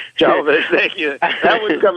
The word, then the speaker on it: Jovovich: I'm not sure how to pronounce her last name. Jovovich, thank you.